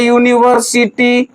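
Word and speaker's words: university: लेकिन इसका उच्चारण करिए तो लिखा आता है यूनिवर्सिटी यू तो इसके आगे हम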